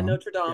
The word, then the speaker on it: Notre Dame: and you have Drowning, and then you have Notre Dame. Yep. Is that how you pronounce it? Notre Dame. Yeah, Notre Dame.